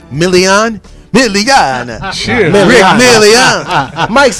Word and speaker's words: Milian: And we got Rick, let me say it the Italian way, Milian.